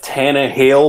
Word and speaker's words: Tannehill: thrill whoo have you how do you pronounce his name tannins thrill it's Tana hail but we like to call them Tana thrill for all the fruit